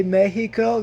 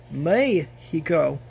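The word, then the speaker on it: México: you should say eight you should not say Mexico you should say may he go so bye bye see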